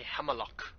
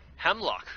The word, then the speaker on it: Hemlok: That's the first time I heard someone say Hemelok. How do you say it? Hemlock.